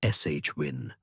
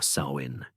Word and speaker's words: Samhain: great Celtic fire festivals Samhine pronounced depending on the dialect as shin or sawin.